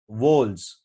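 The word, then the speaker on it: whorls: It consist of 4 floral वोल्स, तो ये मैं आपको बोल रहा था लेयर्स, उसका टेक्निकल नाम क्या होता है, वोल्स, वोल्स, वोल्स। इसका प्रोनाउंसिएशन बहुत ही अजीब सा है, एच साइलेंट होता है, तो आई am gonna just right it down.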